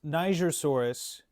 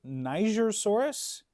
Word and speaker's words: Nigersaurus: So, yes, Nigersaurus was both discovered and named, I think named.